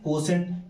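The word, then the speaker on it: quotient: अब यहाँ पे कोसेंट का स्पेलिंग थोड़ा अलग है, इसको आप याद करने के लिए पढ़ सकते हैं कोटी एंड। क्या पढ़ते हैं? कोटी। जैसे पेशेंट को आप पटी एंड कहते हैं, वैसे कोसेंट को आप बोलिए कोटी एंड, याद रखने के लिए।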